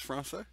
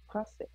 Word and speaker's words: Français: Français. Oh, it is Francais? Français.